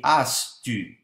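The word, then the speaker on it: ἄστυ: che si pronuncia, se si vuole pronunciarlo correttamente, dicendo la i, ma arrotondando le labbra per formare una u. Quindi, se posizioni la bocca come se stessi dicendo u, ma pronunci i, vedrai che esce il suono della u , quindi astu.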